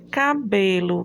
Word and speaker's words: cabelo: Quando nós temos aqui cabelo. Cabelo, B, você já classifica como paroxítona. Por quê? Porque é a penúltima sílaba que é tônica, que é forte.